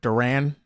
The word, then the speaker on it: Duran: Duran is actually how you pronounce his name.